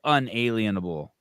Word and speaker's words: unalienable: It can be inalienable or unalienable.